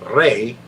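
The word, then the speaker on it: Rhade: h h yeah h r e were uh pronounced ray and they were they're little fierce little fierce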